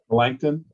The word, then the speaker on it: Melanchthon: He is affirming your thoughts on, do you pronounce it Melcanton Smith? Melanchthon.